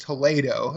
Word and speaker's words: Toledo: used to live in Ohio he's like no Toledo Spain and I'm like what and he had and he's like it's actually pronounced Toledo and I'm like oh well you should have